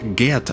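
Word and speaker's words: Ged: допоможе геду нарешті зцілитись І так я вимовляю його ім'я як Get а не гед як запропоновано в перекладі оскільки гед мало того що вимовляти не комфортно все ще й некоректна транслітерація якщо ми йдемо шляхом гемінгвея і гоґвортсу то це слово теж безумовно має звучати як Get На цьому я припиняю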